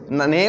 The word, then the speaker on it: naive: Naive means naive और naive both pronunciation right, inexperienced.